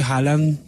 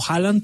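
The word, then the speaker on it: Haaland: cristiano Me parece que halan aunque dicen que se dice Holland no Holland se pronuncia en noruego pero a mí me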